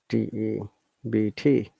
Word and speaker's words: debt: Is it debt or debt? Okay, let's find out. DEBT. Debt. So it is debt.